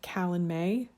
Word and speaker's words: Calanmai: This one is called Callan May. I did Google that, and that's how Google told me to pronounce it.